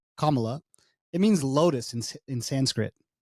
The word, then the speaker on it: Kamala: Okay, so Kamala Harris' first name, which is pronounced Kamala, it means lotus in Sanskrit.